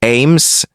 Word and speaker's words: AMHS: Le système d'habitation d'urgence multi-espèce adaptatif AMHS prononcé AIMS était la dernière innovation technologique de l'empire zaien.